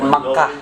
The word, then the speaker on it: Mecca: Makkah. Mecca. No. No. In English. Hello. In English is that Mecca.